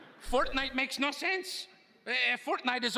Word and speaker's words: Fortnite: Fork knife? Did you say fork knife? It's actually pronounced Fortnite.